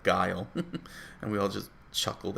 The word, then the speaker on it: Guile: street fighter 2 and he'll pronounce the name geely instead of guile and we all just